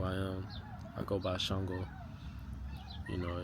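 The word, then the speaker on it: Xhango: don't know who I am, I go by Shango. You know, it's spelled x h a n g o. For those who don't know how to pronounce it, it's pronounced Shango. You know, but I go by Shango the god.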